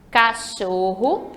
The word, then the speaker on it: cachorro: vendo oxítona já as paroxítonas é a penúltima sílaba mais forte por exemplo Cachorro Eu Tenho aí cassorro três sílabas se eu